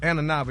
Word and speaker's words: Inaba: But people say, honey, But Miss Carrie Inaba, at least that's how you pronounce her last name. Carrie Inaba. Inaba, yeah, thank you.